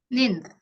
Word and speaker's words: ninth: Jadi TH itu pas kamu mau ngucapin atau pronounce ninth itu TH-nya itu uh, apa gimana cara pas ngomong-ngomong lidah kamu tuh di antara dua gigi gitu. Terus pas kamu ninth gitu kan, pas lidahnya tuh keluar ya, ada hembusan yang